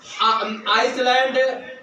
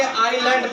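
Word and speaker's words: island: है महाद्वीप हो गया आइसलैंड अब देखिए य पर य साइलेंट है तो इसको क्या पढ़ेंगे आईलैंड पढ़ेंगे और एकज और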